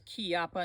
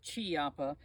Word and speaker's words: Chiappa: Rhino and it is kiapa not Chiappa in uh Italian if it's Chi you pronounce it key like k-e-y in English if it's a c